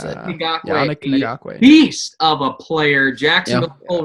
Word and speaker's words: Yannick Ngakoue: Yeah, Yannick Ngakoue. I think that's how you pronounce it. Yannick Ngakoue.